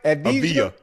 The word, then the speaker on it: Avdija: Avdija. Oh, Avdija? Oh, so the D silent? Yeah.